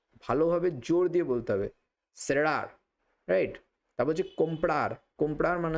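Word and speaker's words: cerrar: অর্থাৎ থ এর মত উচ্চারণ হয়। তখন সেখানে বলা হতো থেরার।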